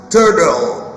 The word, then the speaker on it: turtle: Turtle. Turtle. بص ممكن ال R دي ما ننطقهاش خالص وال T ننطقها شبه ال D، نقول turtle.